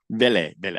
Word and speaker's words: Vele: Vele.